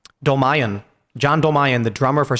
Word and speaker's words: Dolmayan: John, how do you pronounce his name? Dolmayan.